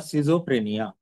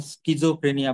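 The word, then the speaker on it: schizophrenia: म्हणतात split personality किंवा सिझोफ्रेनिया सिजोफ्रेनियाच spelling कस आहे एस सी एच आय झेड ओ टी एच आर ए एन आय ए त्याला काही जण स्कझोफ्रेनिया पण म्हणतात काही सिजोफ्रेनिया पण म्हणतात त हा आजार कसा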